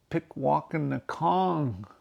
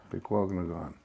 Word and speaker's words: Pikwàkanagàn: The correct pronunciation is called Pikwàkanagàn, Pikwàkanagàn. but they named it Pikwàkanagàn. It doesn't have the K-O-N on the end of it like Wikwemikong.